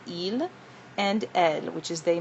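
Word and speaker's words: ils: We have il. Um you notice you don't pronounce the s even though it's there. It stays silent. Il and ed which is they masculine.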